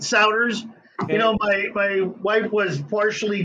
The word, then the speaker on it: Souders: Souders. Yep. Just like loud Souders.